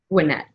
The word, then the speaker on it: Gwinnett: Gwinnett, Georgia Gwinnett College.